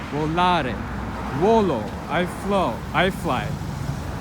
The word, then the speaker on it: volare: Volare. To fly. The stress falls on the second to last syllable. Volare.